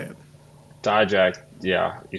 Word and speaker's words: Dijak: Dijak, yeah, you say it right.